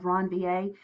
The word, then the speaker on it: Ranvier: called the no node of ranvier again that's pronounced node of ranvier and so what happens is everywhere that there